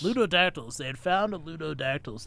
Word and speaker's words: Ludodactylus: They had found, how does this pronounce it? Ludodactylus. Ludodactylus.